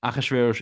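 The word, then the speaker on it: אחשורוש: Achashverosh is the Hebrew way of saying it.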